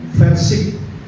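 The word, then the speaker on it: Verčič: Dejan Versik, ver pakai V, Versik, CIC, nah, ya, Versik, tetapi I-nya pakai, karena kayaknya nama-nama Yugoslavia, ya.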